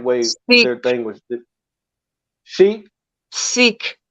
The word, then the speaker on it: Sikh: They were attacking sheikhs, however you pronounce the right way their thing was. Sheikh? Sikh, not with an SH, it's just Sikh.